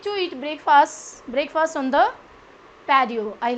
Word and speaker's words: patio: It's not patio, it's patio. Normally in English, when the T word is surrounded by the vowels, then it would be pronounced as D.